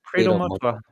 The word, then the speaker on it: Credo Mutwa: Yeah, Credo Mutwa.